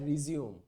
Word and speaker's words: resume: তখন এটাকে বলা হয় রিজিউম। তখন বানান কিন্তু একই, সেম জিনিস, RESUME, কিন্তু উচ্চারণটা হবে রিজিউম।